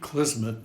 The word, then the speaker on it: Klismet: enjoy the show my name is kisman and that's spelled k l i s Ms and Mary